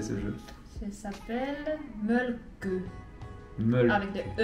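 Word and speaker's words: Mölkky: bouts de bois, et que tout le monde prononce en France le Molki. Bah sachez que c'est un jeu qui vient de Finlande, et Ada va vous apprendre comment officiellement prononcer ce jeu. Ça s'appelle Mölkö.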